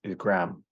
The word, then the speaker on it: Graham: And I appreciate the fact that you pronounce it the same as I do, Yeah, because the commonality is Graham, Graham.